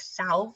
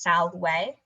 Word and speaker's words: salve: few quick notes um the letter v in latin is always pronounced like a w so the word for hi is spelled s-a-v-s-s-a-l-v-e it kind of sounds like salve or it looks like